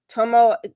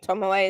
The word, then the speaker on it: Tomoe: Tomo, there it is. Tomo should be in there too. Tomoe, right? Tomoe is the right way to say it.